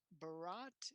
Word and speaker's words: Bharat: Hopefully, I'm saying this the right way. Bharat, is Bharat here? Hi, Henry. Hello. Did I pronounce that correctly? Yeah, you pronounced it correctly. It's Fantastic. Bharat.